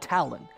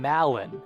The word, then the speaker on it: Talon: out of the rent I've been saying Malin haven't I I knew I was saying it wrong but I couldn't figure out if it was Talan Malan or like Jimmy Fallon you know so the